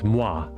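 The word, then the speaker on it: moi: I was just really Oh, and I together Oh, and I together is just oi for me. You mean mo? Oh, it's mwah. Like mwah like like mwa m oi.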